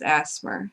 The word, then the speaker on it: ASMR: It's ASMR, except I pronounce it in my head as Asmer, so it's Aspirations.